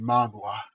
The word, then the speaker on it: manhwa: it's from a Korean manhwa. I know you guys laughing to say it properly. It's called a manhwa.